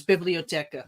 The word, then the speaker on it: Bibliotheca: Gnosis Bibliotheca. Okay. Bibliotheca was easy. Come on now, Kenneth. H is silent on that too.